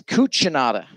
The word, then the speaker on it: Cucinata: But So we were trying to figure out how to say, is it Cucinata, Cucinata? It is Cucinata.